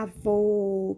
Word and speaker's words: avô: de maneira mais fechado olha só como é que tá aqui a boca do acento circunflexo e ela tá fechada avô promo sim aí a